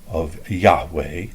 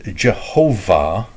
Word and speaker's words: Yahweh: The J comes from the German pronunciation of Yahweh, or the writing, because a J and a Y between German and English is the same Yah sound, and it incorrectly becomes anglicized as Jehovah, because they take the